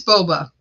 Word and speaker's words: boba: say it wrong it's Boba I know it's called boba tea but I call it Bobby tea for some reason